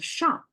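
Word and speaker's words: 赏: So the top is a shang, pronounced as shang.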